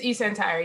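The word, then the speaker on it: eSentire: how you pronounce it? It's eCentire, yep.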